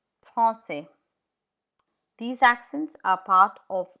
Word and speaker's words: français: Comme ça, here we use the cedilla, la cedi, to bring in the S sound. France, France, the C in front of E, it has the sound France, but here we've had to employ la cedi, français, français.